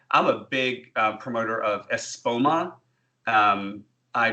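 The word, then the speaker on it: Espoma: and so well I'm a big promoter of ESPO ma I pronounce it as its spell ESP oh ma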